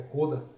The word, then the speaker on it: KODA: Só para fins de curiosidade, quando a gente pronuncia, né, a palavra, ela tem um acento circunflexo no O, é coda, né? Porque a origem é japonesa.